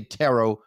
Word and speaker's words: tarot: probably going to say tarot wrong too so just a Tarot guy I say tarot but you say Taro I do say Taro I think T sounds